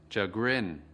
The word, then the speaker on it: chagrin: Từ chagrin có hai âm tiết. Trọng âm của từ chagrin ở âm tiết thứ hai.